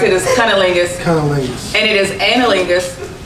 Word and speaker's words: cunnilingus: It is cunnilingus.